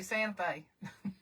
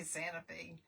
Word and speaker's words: Santa Fe: You don't say Santa Fe. You say Santa Fe.